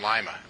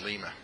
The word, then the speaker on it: Lima: But we don't call them lima. It's pronounced lima.